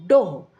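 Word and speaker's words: dough: ठीक है बाऊ डो गो डो इसको हम डो पढ़ते हैं डो को लोई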